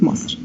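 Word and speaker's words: مصر: So the official pronunciation is Misr, but slang language is Masr.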